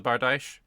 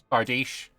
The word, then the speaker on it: bardiche: But if it rhymes with quiche, then okay. Bardiche sounds worse, but whatever.